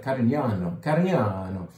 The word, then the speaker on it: Carignano: It doesn't say it on the label, but this is made of Carignano.